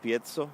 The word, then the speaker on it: piezo: word for pressure pickup it's pronounced piezo not piezo or PI so and so those pickups rely on